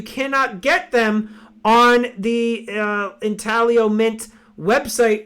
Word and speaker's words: Intaglio: So it's actually, all of us have been saying Intaglio. It's Italian. It should be pronounced Intaglio.